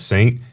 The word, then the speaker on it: SXXNT: So there's a guy called Saint, but it's spelled SXXNT.